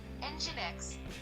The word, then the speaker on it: Nginx: Para falar a pronúncia certa aí. Só mais uma vez. Nginx.